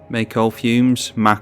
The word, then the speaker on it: Mako: Thinking that it's the Mako fumes, as I now know it's pronounced.